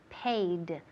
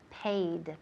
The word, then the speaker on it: paid: So make sure, aseguraos que puedo oír la D al final.